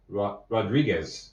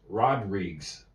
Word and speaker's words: Rodrigues: Rodriguez is the way they would say. I couldn't visualize the letters well enough. Rodriguez. Rodriguez. Yes. That's how they would pronounce it in Los Angeles. In Hawaii, it's pronounced Rodrigues.